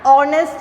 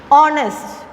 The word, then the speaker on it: honest: An honest man, as I said before, letter H is silent.